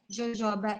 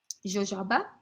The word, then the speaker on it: jojoba: And yes, because it's in California, it's in Mexico too, so it's probably the right pronunciation is jojoba. I mean, it's a J, so it's a J. It's a jojoba, jojoba. Yeah, but just like vetiver, it's a shrub, right?